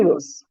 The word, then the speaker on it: arduous: Number two is arduous is pronounced. D is pronounced as J.